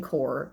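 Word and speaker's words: corps: and I'm happy to learn and core Marine Core CPS my mom did say that has pronounced core and I know that it is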